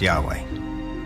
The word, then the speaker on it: Yahweh: knew god by his intimate personal name conventionally pronounced yahweh passages with the name yahweh which in german is spelled with a j